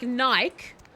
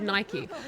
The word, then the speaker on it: Nike: from Australia, metal band, pronounce it like bike. Like Nike. Okay, that man just doesn't know how to say it. Every single Australian I've ever talked to has said Nike.